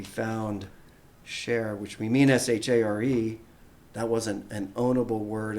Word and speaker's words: Shar: spell it phonetically so with the accent over the a it's a long a it's pronounced share and that's precisely what